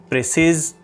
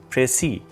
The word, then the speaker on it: précis: students pronounce it as precise precise so all these are incorrect the correct pronunciation for this word is pray see so the word pressy